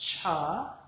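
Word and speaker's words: Chih: That third little word is pronounced cha like chuck wagon.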